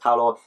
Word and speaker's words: Paola: It is pronounced Paolo.